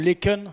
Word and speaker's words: Laeken: Quartier de Laeken, ça se prononce comme ça? Laeken, ouais. Laeken.